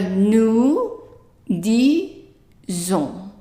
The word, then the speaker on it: nous disons: So nous disons. And I'm pronouncing this S here as a Z, not as an S,